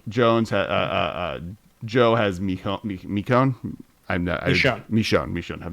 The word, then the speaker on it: Michonne: Never gonna pronounce this. Mikon Jones. Joe has Mikon. Michonne.